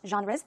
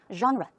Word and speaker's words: genre: You can also ask, which genres do you like? The pronunciation, we did this long time ago, but just in case, one more. Genre. Genre. It's a zh sound.